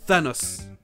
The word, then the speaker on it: Thanos: Rien de particulier, mais ça aurait pu se prononcer de plein de façons différentes. Thanos, Thanos, mais c'est bien A et O. Thanos.